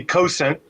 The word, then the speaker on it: Cosaint: i pronounce it differently i pronounce it weird and i cannot stop doing it it's driving me nuts i always say let me help you with that so um so we we say cosent okay and uh a